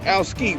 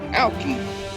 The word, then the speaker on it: Alski: You didn't say Alski, right? Right. You said Alki. That's how you pronounce it.